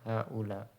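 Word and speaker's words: هؤلاء: ula nah di sini jadi bacanya ula dan ha ula nah cara tulisnya di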